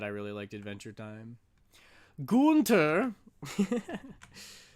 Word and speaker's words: Gunter: Gunter. Right. That is how you pronounce it.